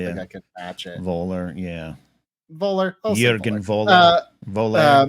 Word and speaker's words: Voller: Voller.